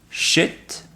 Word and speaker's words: shit: C'est la différence entre le i long et le i court dans shit, i court, et sheet, i long, qui veut dire complètement deux choses différentes.